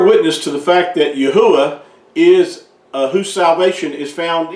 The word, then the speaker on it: Yahuah: pointing to the fact that Yahuah is not only our creator, but that's how his name should have been pronounced and is pronounced if you do it properly. There's no way to get Yahweh out of this because